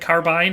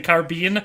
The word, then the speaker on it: carbine: if you're using it in the like a short-barreled rifle, it's both. Carbine or carbine are both acceptable. A lot of people seem to think that carbine is the only way